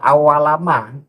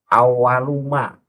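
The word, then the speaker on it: أول ما: Itu enggak awalama, awaluma yas'alani fil qabri ani. Awaluma yas'alani fil qabri ani, karena itu kan menjadi mubtada, itu mubtada harus dibaca rofa, lafat awalu.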